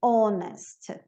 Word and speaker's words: honest: O H, como português, às vezes ele é pronunciado, às vezes não, como na palavra hour e honest.